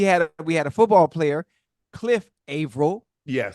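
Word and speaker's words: Averill: A V E R I L. Ail. A. Why would they add the E? The E is silent.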